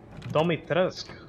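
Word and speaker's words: Dimitrescu: what it means to insult house dummy trask dummy teresque so that's how you pronounce it house domitress oh oh you'll make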